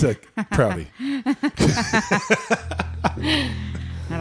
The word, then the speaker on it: Prouty: It's a Prouty.